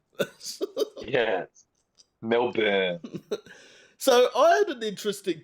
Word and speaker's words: Melbourne: Oh, the amount of people that say cran or malbourne and I'm like no it's not born it's burn. Yes Melbourne.